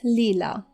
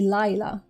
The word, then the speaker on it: Leela: Perhaps because my middle name is Leela. And when I lived in Israel, quite a few people called me Laya instead of Leela. They pronounced my name Laya.